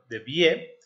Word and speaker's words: Debye: Petrus Joseph Wilhelmus de Vie. De Vie es como se debería de pronunciar, y nació en la